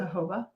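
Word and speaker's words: jojoba: organic products the organic hoba is that how you pronounce it hoba according to google but it's j OJ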